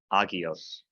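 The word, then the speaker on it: ἅγιος: That is, even if there's a rough breathing mark, don't pronounce an H sound. So, for example, the word holy, agios.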